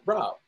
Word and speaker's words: RAab: And I was like, hey, man, how do you pronounce that car name? He was like, Saab. I was like, that's it, RAab.